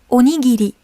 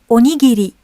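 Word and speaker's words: おにぎり: Pour la colonne R, en fait, le son de R n'existe pas en japonais. Il est donc remplacé par le son L, même si certains mots sont écrits avec un R. Donc, essayons de prononcer ensemble. La, li, li, le, les, lo. Donc imaginons que comme si c'était écrit avec un L.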